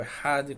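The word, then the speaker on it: אחד: na última palavra, Ehad, nós pronunciamos o Ehad com uma Kavaná, isso sem falar do tipo de pronúncia que a gente tem que fazer em relação ao tempo de prolongamento entre o Aleph até o Dalet, né? E finalizar com um Dalet forte, um Dalet mudo e forte.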